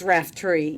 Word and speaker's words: Raftery: I've been pronouncing your name all this time wrong. Raftery? It's Raftery, yes.